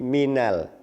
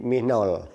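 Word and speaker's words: من ال: Min bertemu al, menjadi minal. Min bertemu al, menjadi minal. Ini tidak menjadi minol.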